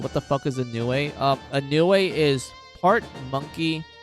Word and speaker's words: Nue: It's spelled N-U-E, Nue.